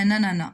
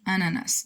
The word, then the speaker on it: ananas: كاينين دي فرونسي اللي كيقولوا ان انانا وما كينطقوش داك لو اس ولكن حنا خاصنا نديرو النطق الصحيح ان اناناس.